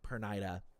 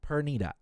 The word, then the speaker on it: Pernida: I won't know like I was pronouncing perida perida perida but it's perita all right as per the anime it's perita Amicon says lilb is